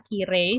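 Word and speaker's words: きれい: masuk ke kata sifatna karena begitu diucapkan dia tidak ih bulet seperti muzukashi misalnya atau hui misalnya atau yasui tapi dia seperti e panjang kiri makanya dia masuk ke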